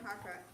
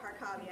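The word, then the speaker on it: Harkavy: sorry, Harker, how do you pronounce it? Thank you, Harkavi.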